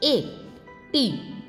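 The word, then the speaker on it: eighty: 80, ई आई जी एच ए, टी एट टी वाई टी, ए टी। यहाँ पर जी H silent रहता है इसीलिए ये केवल ए बोलता है।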